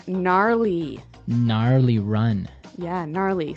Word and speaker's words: gnarly: We heard the ski instructor say gnarly. Gnarly run. Yeah, gnarly. So an interesting word, it's spelled Gnarley. Okay, so, but you don't say gnarly. No. You say gnarly.